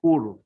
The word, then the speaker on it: corps: Contractual activity in the crop zone area, my It's not courts, it's core. lord. You have to pronounce core.